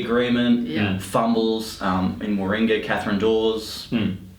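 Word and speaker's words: Deves: And then lead up towards it, you had the Solomon Islands security agreement, fumbles in Warringah, Catherine Dawes. Doors? How do you say? Catherine Dees. Catherine Dees, sorry, my apologies.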